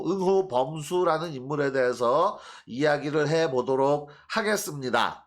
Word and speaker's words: 範睢: 자, 범수, 예, 또는 범저라고 표기한 서적도 있어요. 특히 저 열국지 쪽에서는 주로 범저라고 읽는데, 이게 숫자가 강 이름 수, 고 이 저는 물수리 저.